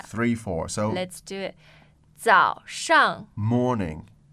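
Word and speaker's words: 早上: So the tones on 早 are, I find it a They're- little confusing. Yeah. So third tone for 早 yes. third tone 上 that's the fourth tone. Okay, so it's 3-4, right? Yeah.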